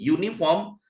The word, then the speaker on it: uniform: n uniform nah ini ini bacanya bukan u Tapi u ini baca y uniform makanya di sini Harusnya bukan an tapi a uniform when the when she